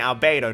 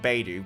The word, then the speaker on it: Albedo: scales off defense now i'm saying albedo not baidu because i i know a few people got confused with that in my last video albedo is most likely